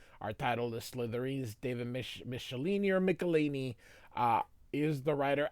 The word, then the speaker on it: Michelinie: I know Todd McFarlane says Michelinie, but it really should be Michelinie, like Michelin tires.